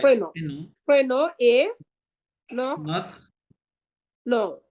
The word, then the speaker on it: notre: Épaulé, হুম, no- épaulé notre, নথ নথ নদরে না, নথ। notre, হ্যাঁ oh, ইটা silent, জি, নথ, notre, হ্যাঁ হ্যাঁ, এপোলে notre, নথ।